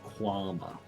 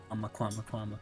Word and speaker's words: Kwama: Sorry, that's actually pronounced Quama. Kwama, come here.